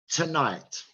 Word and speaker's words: tonight: So, tonight, tonight, no, tonight, because night is stressed. Tonight, the second syllable is stressed in tonight. So the vowel in to is reduced to t, and that sound is schwa.